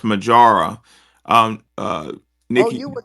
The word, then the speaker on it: Mojaura: and what is it it's pronounced majara um uh nck you